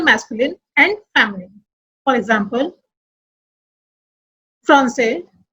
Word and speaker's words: Français: As I told you, words ending with S, D and T are silent in masculine and sounds in feminine.